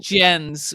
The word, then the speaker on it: Jens: Is it gens with a z sound at the end or? Yes. Jens with a z. Like lens.